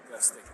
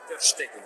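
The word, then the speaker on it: Ter Stegen: Не Тер Штеген, как, наверное, многие из вас привыкли, а Тер Стеген.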